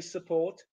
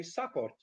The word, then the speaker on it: support: are true examples very common notoriously and notoriously mispronounced words so english people say support polish people say support english people say event some people sound perishable